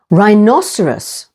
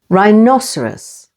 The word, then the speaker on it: rhinoceros: a slice of ghetto H is always silent after r as in these words rapid with the stress on the first syllable rapidy rhinoceros with the stress on the second syllable rhinoceros and rhyme and H